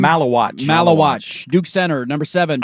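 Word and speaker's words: Maluach: Malawatch.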